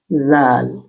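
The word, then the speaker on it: ذال: যাই হোক, হলো ডাল এর মতোই, কিন্তু জিহ্বার আগা দাঁতের মাঝে চলে আসে। মাখরাজ জিহ্বার আগা দাঁতের মাঝখানে উচ্চারণ। জ, 29 জ, জ, soft th sound in English like this, এরকম শব্দ হবে।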